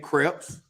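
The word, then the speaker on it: crêpes: Hey, one of those E's is silent.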